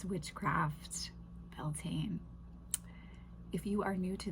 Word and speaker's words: Beltane: So, Beltaine is a fire sabbat. There are very many varying views on pronunciation.